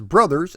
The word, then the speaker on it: Bros.: Let's find out as we venture deep into the history of Super Mario Bros. 3. Development on Super Mario Bros. 3, yes, I'm going to pronounce it as brothers and not bros, started all the way